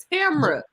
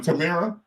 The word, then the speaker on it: Tamra: How do you pronounce her name? Tamra. I'm sorry, their name. Tamra. Okay. What was I saying? Tamara?